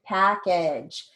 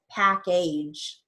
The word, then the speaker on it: package: for a final j package some people like to try to come back for long a but it's not pack age it's package so you're using a short a okay all right very